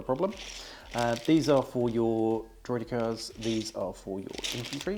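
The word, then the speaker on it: droideka: have 2 sets of droidicas, droidicars, depending on how you want to pronounce it. I guess because we're CIS, we should be saying it droidicars, like they say in the movies.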